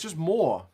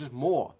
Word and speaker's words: Moore: Like, it's just Moore. It's just M-O-R-E, but it's got an extra O in it. You don't have to change the pronunciation. It's just Moore.